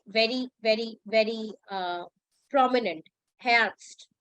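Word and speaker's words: Herbst: uh Autumn perhapsed yeah so it is called hats not host it is enhanced make sure when you say heads so the pronunciation of e should go very very very uh prominent hairst not host cast okay now yeah this is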